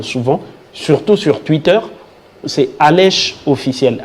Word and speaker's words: Alesh: sociaux, j'en parle souvent surtout sur Twitter, c'est Alèche officiel. Alèche s'écrit A-L-E-S-H.